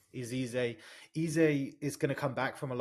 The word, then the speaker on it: Eze: Like Easy, I think it's easy, yeah. Is Eze.